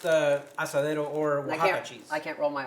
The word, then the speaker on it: Oaxaca: Okay, so Oaxaca cheese.